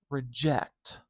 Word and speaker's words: reject: I'm going to put a schwa next. And you might be able to hear that it's very short. I'd make that schwa a little too tall, didn't I? That's okay. But in duration, the sound is very short.